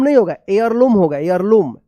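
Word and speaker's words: heirloom: होगा air lump होगा air lump air lump H ई आई आर L double O एम यहां पे एच जो है ना साइलेंट रहेगा देखिए यहां पे near the bridge they found a family air lump.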